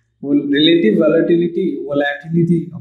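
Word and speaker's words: volatility: The relative relative वॉलेटिलिटी ऑफ the benchmark और relative वॉलेटिलिटी वॉलेटिलिटी ऑफ the benchmark वॉलेटिलिटी सही pronunciation है यानी ठीक है जो है ये relative वॉलेटिलिटी वॉलेटिलिटी ऑफ the benchmark ये भी एक फैक्टर है.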